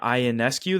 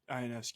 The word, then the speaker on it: Ionescu: I think when I was watching Sabrina Ionescu, that's how you pronounce her last name, Ionescu. Yep. Sabrina Ionescu shoot, my jaw literally dropped.